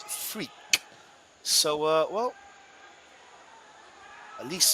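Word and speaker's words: Freke: like a man so the goalkeepers actually spelled f r e k e is pronounced freak so uh well at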